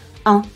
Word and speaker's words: un: Before a vowel or a silent H, un is pronounced un.